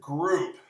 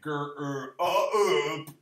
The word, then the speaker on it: group: are challenging today, but the word group really looks like gr-er-up or grope, but it's g-er-oo. That oo is an O-U.